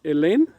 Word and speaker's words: Hélène: Everyone, I'm here with a nice lady called Hélène. Is that how you say it? In French? Hélène in French, and Yeah. Helen in English, and Elena in In Spanish.